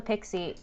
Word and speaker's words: PKCE: Oh, it actually, fun fact, it's Pixie. pronounced Pixie.